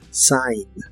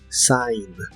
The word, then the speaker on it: sign: de la s y la G de esta palabra no se pronuncia Sign Sign y usaremos el verbo